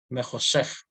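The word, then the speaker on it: בחושך: Ese shba no se pronuncia, ¿ya? Be Joshech, no se pronuncia Be Joshech, ¿ya?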